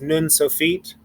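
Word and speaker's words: נון סופית: in uh in hebrew a final nun uh is pronounced nun sophiet that means the final in hebrew sophiet uh same thing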